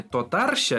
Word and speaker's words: татарча: А можно про ударение тотарща или тотарща? Тотарща. Опять, вот что такое? Мы учим татарский ударение на последний слог всегда.